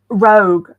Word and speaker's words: Rogue: Rogue. I think it's Rogue, and I've just pronounced it Rouge.